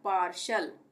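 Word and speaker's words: partial: मार्शल उसी तरह से यह है पार्शल टी के बाद क्या आ रहा है आई ए आ रहा है तो यहां पर भी श का उच्चारण होगा टी के लिए पार्शल उसी तरह से फशल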